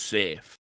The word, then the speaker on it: Safi: It's spelled Safi, but apparently it's pronounced safe.